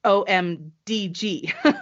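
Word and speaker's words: OMDG: p.i at Oh M which is om d ee g ee so it's om DG that's how you say it out loud so those are the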